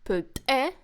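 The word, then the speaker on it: plltxe: So you see, plte is stressed on the second syllable.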